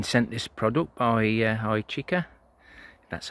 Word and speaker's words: Hychika: do i've been sent this product by uh hi chica that's how you pronounce it uh to do a review they